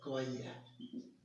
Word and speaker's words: choir: इसका अगर मैं उच्चारण बताना चाहूँ, इसका उच्चारण होता है कवाइया।